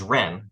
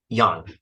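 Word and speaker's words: 仁: The standard anglicized Mandarin is Ren, R-E-N. The standard, well, I'm not sure if this is standard. I'm not sure I'm even pronouncing it rightly enough. But the Cantonese or Guangdonghua pronunciation of this word is Yan. Yan.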